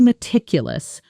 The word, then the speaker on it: meticulous: She's incredibly meticulous when it comes to reviewing contracts. Say it with me, noting the stress. Meticulous, strong on the second syllable.